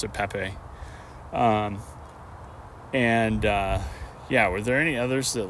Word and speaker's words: Pape: And the other sort of surprises to me was it was Pape Madarsar, not Pap. But I mean, obviously you can kind of shorten it. I would see that, but he did pronounce it Pape.